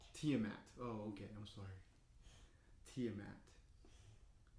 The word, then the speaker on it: Tiamat: of the chromatic dragons and a tiamat it's pronounced tiamat tiamat oh okay i'm sorry tiamat now your kingdom